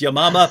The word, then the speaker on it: Yamama: And writing on this, which Hatun just mentioned, the Battle of, I say Yamama, that she pronounced it correctly, which is Yamama, but as soon as anyone says Battle of